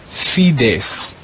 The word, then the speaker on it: fides: though it has four letters it's only one syllable space space means hope the last word in the red row is fides fides the latin word fides means faith in